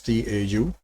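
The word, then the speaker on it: tau: RC is basically to this is pronounced as T Au to right so in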